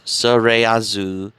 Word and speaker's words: スレイヤーズ: as slayers as well you want to pronounce it in the japanese translated name as surayazu is a 1995 japanese